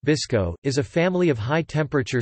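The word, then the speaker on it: BSCCO: calcium copper oxide or BSC Co pronounced visco is a family of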